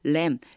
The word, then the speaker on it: lamb: 여기 B가 묵음이에요. 소리가 안 나요. lamb.